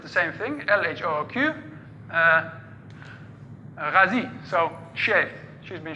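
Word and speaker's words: L.H.O.O.Q.: So if you pronounce that in French, which he was, it's LHOOQ.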